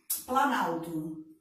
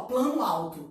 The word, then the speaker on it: planalto: Você tem aqui o plano mais alto, não tem? Você está vendo que quando você você soma essas duas palavras, você não está falando mais, ó, plano alto, você está falando planalto. Viu que a pronúncia ficou diferente?